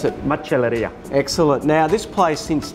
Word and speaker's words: Macelleria: well well pronounced that's enough how do you pronounce it much Alethia excellent now this place since day one we